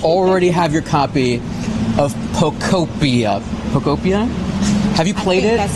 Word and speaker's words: Pokopia: How many of y'all already have your copy of Pokopia?